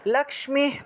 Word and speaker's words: লক্ষ্মী: অবশ্যই বলবেন হুম আচ্ছা লাক্স্মি লক্ষ্মী পদ্মাসনা দেবী লক্ষ্মী লক্ষ্মী উচ্চারণ লাক্স্মি পদ্মাসনা দেবী লক্ষ্মী পদ্মাসনা